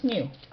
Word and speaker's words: SNU: The unit is the solar neutrino unit, or SNU, which we pronounce SNU.